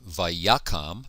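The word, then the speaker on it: וַיָּקָם: IM tarisha Adonai okay the beginning of verse three is vakam notice the accent here tells us that the first syllable is accented V yakam this is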